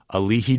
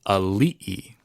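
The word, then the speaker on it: aliʻi: on Big Island, is people will say, Alihi Drive. Alihi Drive. No offense, Dad, but my dad cannot seem to crack that code. Alihi. But it's actually Ali'i. It's an okina. It's a, la, I, okina, I.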